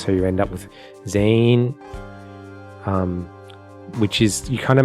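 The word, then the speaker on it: 全員: pronounce it was that the N isn't that hard, it sort of blends in with other things, so you end up with Zane, which is, you kind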